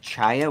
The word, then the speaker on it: chaya: And so I just assumed that Kaya was the correct way to pronounce it. But I have probably 4,000 comments on that video on YouTube telling me that it's not Kaya, it's Chaya with a CH.